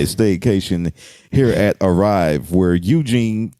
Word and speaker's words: Eugene: Speaking of hearing things, I remember one time I had a staycation here at Arrive where Eugene, because it rhymes with Blue Jean, will park your car for you.